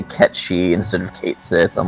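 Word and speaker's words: Cait Sith: And that's how I learned it was Ketchi, because before that I used to say Kate Sethu.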